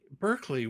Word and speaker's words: Berkeley: Well, um, first, let me say that quirky is not my favorite word. However, it almost rhymes with Berkeley, so I couldn't resist that.